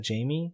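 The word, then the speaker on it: Jaime: buter their name uh it's spelled j a i m is that Jamie you say or J I would say Jamie some people spell it that way yeah Jamie Jamie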